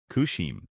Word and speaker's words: Kushim: At the bottom, two symbols, pronounced "ku" and "shim", spell out a name, Kushim.